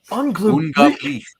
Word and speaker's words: Unglaublich: How do you pronounce that? Unglaublich.